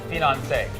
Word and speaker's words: finance: If you want to just pronounce it however you like, I say finance, because it rhymes with Beyonce and she has a lot of money.